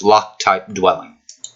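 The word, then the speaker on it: LocTypeDwelling: Now I am pronouncing it the way that it shows in the keywords. It's actually the reference is location type dwelling. So it's lock type dwelling.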